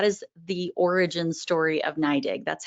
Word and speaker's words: NYDIG: our companies so as paul mentioned it is pronounced naidig we get a lot of questions about that ny dig um new york dig um but it's naidig and that really kind of harkens back to